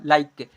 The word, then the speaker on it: like: नियम 10 नंबर में, जब किसी वर्ड के लास्ट में ई आए तो ई का उच्चारण नहीं करते हैं, क्योंकि लास्ट में ई या हमेशा यहाँ पर क्या है साइलेंट होता है।